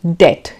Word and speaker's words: debt: And debt, it is not debt, though the spelling has a B, but we pronounce it as debt.